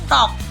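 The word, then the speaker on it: talk: टॉक, टॉक। अब हमारा आता है पी साइलेंट।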